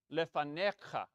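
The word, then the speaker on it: לפניך: Now, another time when that rule changes is with the ch sound, with the your suffix that's added on. Lefanecha. Then the next to last syllable gets the accent.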